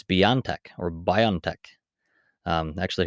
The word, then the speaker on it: BioNTech: that today that it's it's not pronounced bio and tech it's beyond tech or biontech um i